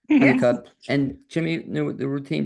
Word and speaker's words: Hunnicutt: Am I pronouncing it right? That's right. Hunnicutt.